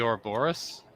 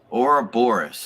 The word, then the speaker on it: Ouroboros: So the snake biting its Or- own tail is the Ouroboros, Ouroboros.